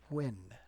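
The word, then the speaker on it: Nguyen: So for those of you that are unfamiliar, that last name right there, that is Vietnamese and it is pronounced Wen.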